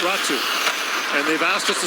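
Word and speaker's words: Räty: and then again as he runs into coconut ratsu back with it you may notice how it's spelled r-a-t-y in finnish it's pronounced ratsu and they've asked us to say it that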